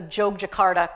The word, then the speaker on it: Yogyakarta: Y's are pronounced ja, so Jogjakarta.